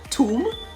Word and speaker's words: tomb: last b is silent similarly the last b in comb c-o-m-b tomb t-o-m-b chrom c-r-u-n-d is silent silent seaworlds conscious c-o-n-s-c-i-o-u-s